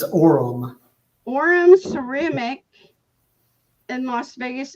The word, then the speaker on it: Aurum: Aurum? It's Aurum.